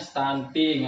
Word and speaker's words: stunting: terganggu Jadinya apa stantink kalau ibu Sunarti tadi bacanya stunting jago Ya nggak papa ya Bu ya kita bareng-bareng belajar itu dibacanya stantink artinya anak pendek tidak